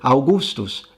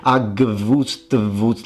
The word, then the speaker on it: Augustus: I mean, look at the word Augustus. It's spelled with V's, but I don't think anyone is expecting you to pronounce it Agvustvutz. I mean, good luck doing that.